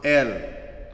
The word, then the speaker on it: El: There is El, pronounced El, E-L, occurs more than 200 times in the Old Testament.